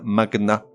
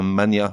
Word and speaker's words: magnat: or contre toute attente certains mots se prononcent avec le G séparé du N comme un magnat et non pas un Mania de la presse par